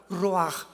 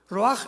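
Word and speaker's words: רוח: La palabra para espíritu en el hebreo es la palabra que es ruaj, que se escribe rua con ch, pero repito, ese pronuncio pronuncia como J. Roaj. Roaj, el Kadosh, Dios Jesús, el espíritu.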